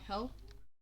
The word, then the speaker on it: Hel: Well, this one is for Hella, Hella's child, or Hel. Hel is like the Danish pronunciation of it is Hel.